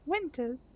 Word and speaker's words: Winters: Am I pronouncing that correct? Winters. Oh, Winters.